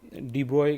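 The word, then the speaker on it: de Broglie: तो डी ब्रॉय ने number 10 पे देखोगे तो हमारा आया था लुई डी ब्रोगली, इसे यहाँ डी ब्रॉय कहते हैं प्रोनाउंस।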